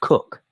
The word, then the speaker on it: Coke: The family who built it and who still live in it are called Coke, pronounced Cook, and they have held this ground since 1734.